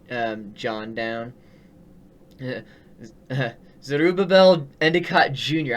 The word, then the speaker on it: Zerubbabel: I can't even pronounce that name. It's Zerubbabel, I believe is what the name is. Zerubbabel Endicott.